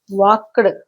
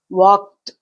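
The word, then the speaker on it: walked: వాక్డ్ కాదు, వాక్డ్. ట పలకాలి, ఎందుకంటే క is a voiceless sound.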